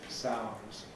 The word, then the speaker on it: sounds: I've elided the D from sounds. Pronounce just sounds interesting.